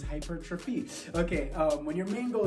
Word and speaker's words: hypertrophy: Okay, so when our main goal is muscle growth, aka hypertrophy, I have trouble pronouncing that word. I always call it hypertrophy, but it's hypertrophy.